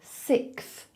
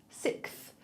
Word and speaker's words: sixth: So a lot of people say sixth. So they don't do that x sound. They just do a k. So they say sick, sick, sixth.